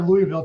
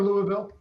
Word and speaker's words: Louisville: is it Louisville or Louisville uh drop the eye out of this just uh it just comes from way back in your throat Louisville Brett I don't